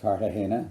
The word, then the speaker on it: Cartagena: Then came a rail fence of the zigzag or snake variety, and then the grounds of Cartagena, pronounced Cartagena with a G, as Professor Cart always insisted.